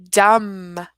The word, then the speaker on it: dumb: on them right so we don't pronounce that B we just learned that this B is silent and so that's gonna help us pronounce these words Bom Bom thumb thumb and dumb silent B let's talk